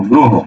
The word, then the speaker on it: গ্রহ: গ্রহ, হকারে হো, গ্রহ। লক্ষ্য করো, মনে রাখবে, র ফলা যুক্ত, কি যুক্ত? র ফলা যুক্ত যত শব্দ আছে, র ফলা যুক্ত শব্দগুলো যদি অ থাকে, সেটা ওতে রূপান্তরিত হয়।